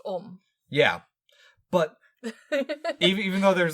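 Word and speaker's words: Ogham: It said Ohm. It's spelled O-G-H-A-M. Yes, but that is pronounced Ohm.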